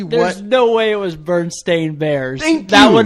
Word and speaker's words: Berenstain: when you go online you cannot find it spelled with an e it's Berenstain AI n bears hmm that is drastically different like if that was what it was called growing up I would have always called berenstain bears not Stine Steen